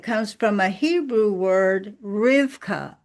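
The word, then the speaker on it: Rivkah: Her name, by the way, Rebecca, and it could some some versions spell it reb ca. Rebecca. Uh, and it comes from a Hebrew word rivka.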